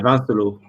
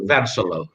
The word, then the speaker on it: Vincelot: Yeah, Vincelot. You don't pronounce the T. Vincelot.